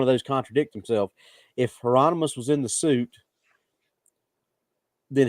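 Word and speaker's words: Heironimus: one you got ger how you pronounce his name not gono but uh heronimus or whatever his name is Bob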